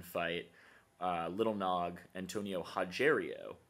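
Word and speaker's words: Rogério: uh little nog Antonio haero the r is pronounced as an H for those who don't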